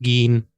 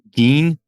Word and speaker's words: Gein: I think it's pronounced Geen. Gein, Yeah.